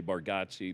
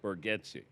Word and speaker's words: Bargatze: I like how you say that you mispronounced your last name, but you know when it's a lot of people say Bargotsi, but it's Baretti.